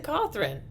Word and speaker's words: Cawthorn: love triangles, Madison Cawthron. In the springtime, he came out and told us that Let's not pronounce it like my last name. Okay. It's Cawthron. Cawthron. It's his name. Cawthron is me.